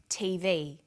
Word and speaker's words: TV: Notice that each letter in the abbreviation is pronounced separately, but the last letter is pronounced more strongly because it carries the primary stress. So we say USA, ASAP, ABC, and TV.